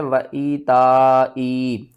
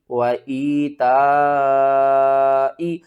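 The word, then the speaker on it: وَإِيتَاءِ: سب سے پہلے اس کے ہجے کر لیتے ہیں. واو زبر وا، حمزہ یا زیر ای، وَإِی. یا ساکن سے پہلے زیر ہے، حروف مدہ ہے، 1 الف کے برابر کھینچ کر پڑھیں گے.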